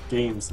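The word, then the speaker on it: GAEMS: I would say games system. But it's spelled G-A-E-M-S or something like that.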